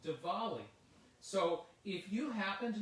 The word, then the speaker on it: Diwali: And it's not Diwali. I thought it was Diwali, but it's Diwali. It's pronounced Diwali.